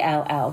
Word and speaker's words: Lovell: last name as l.o.v.e lol rhymes with shovel love with two L's